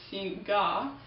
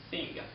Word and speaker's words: Singha: One more interesting thing is that if you see the name you would probably want to read it Singha, but it's actually wrong and you should pronounce it Singha.